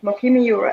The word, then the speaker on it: Moqimi: And Mokimi, you spell it Moqimi, which stands for God's lift people up out of the sea.